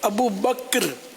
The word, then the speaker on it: ابو بکر: بکر بکر ابو بکر, عوام ابو بکر ہی بولتے ہیں, یہ صحیح تلفظ ہے ابو بکر.